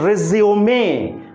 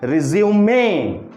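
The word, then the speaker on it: résumé: हमारा स्ट्रेस जो होगा, the stress should be on ridge पे हमारा स्ट्रेस होना चाहिए। सो रिज्यूमे, रिज्यूमे, सो इट इज the word रिज्यूमे।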